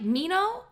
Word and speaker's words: Minho: sorry, did you say Minho? And then she pronounces his name differently than I do. She How does says she- like Mino.